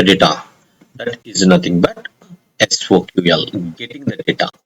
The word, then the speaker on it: SOQL: It's time to learn about the SOQL, Salesforce Object Query Language, also known as SOQL, pronounced as SOQL.